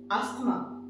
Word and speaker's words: asthma: Now this word ASTHMA, ये disease है and we often call it asthma, है ना? Asthma is the incorrect pronunciation, or it is we do not pronounce it as asthma, we pronounce it as asthma.